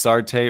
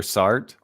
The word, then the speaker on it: Sartre: And so that's interesting because Jean-Paul, I never know if it's Sartre or Sartre. I believe it's pronounced Sartre, yeah.